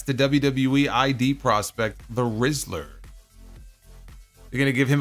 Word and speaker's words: Rizzler: 7 and a half it is the rizzler not the rinsler I think I mispronounced it the other day Jeremy Rose do you